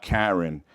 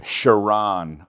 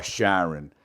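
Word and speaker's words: Carron: named Karen Phillips but it's spelled c a r r o n and it's a man so apparently it's not Karen it's shiron or Sharon well I'm going to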